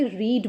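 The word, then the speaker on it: read: अच्छा एक बात और, रीड स्टूडेंट जब वर्ब की फर्स्ट फॉर्म में यूज़ होता है तब हम इसे रीड बोलते हैं, लेकिन जब रीड आपका वर्ब की सेकंड फॉर्म और थर्ड फॉर्म में यूज़ होता है तो स्पेलिंग सेम ही रहती है, लेकिन हम इसे तब रेड बोलते हैं, ठीक है।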